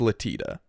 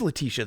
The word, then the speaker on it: Letitia: It's Latita. Oh, no, it is Letitia. There's another I.